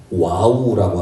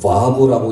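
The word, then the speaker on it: וָו: 그러면서 50장까지 전개되면서 50장 요셉의 죽음으로 마무리를 짓는 것 같은데, 출애굽기 시작할 때 히브리 원문 성경에는 와우라고 하는, 와브라고 읽기도 하는 와우라고 하는 and 그리고로 시작합니다.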